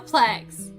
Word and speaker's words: suplex: last time it's loading why are you pronouncing plexus Flex Su suplex suplex there German suplex is